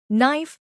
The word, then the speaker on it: knife: Knife has silent K.